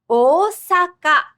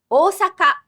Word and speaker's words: Osaka: Osaka. Osaka. Japan's 3rd largest city means big hill. And the Chinese reading for big is a double vowel, o.